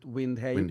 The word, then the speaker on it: Windheim: And yes, that's how you pronounce it, Windheim. Windheim. But I'm no purist. Anyone can pronounce Windheim whichever way they want.